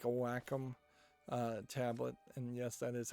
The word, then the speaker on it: Wacom: be what you would want, is like a Wacom tablet. And yes, that is how you actually pronounce that word.